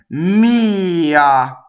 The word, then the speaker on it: mia: Mia, right? So mia, the accent is on the E, possessive pronouns.